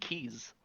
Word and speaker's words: Keyes': his cage, but because they didn't put another S, you just pronounce it Keys.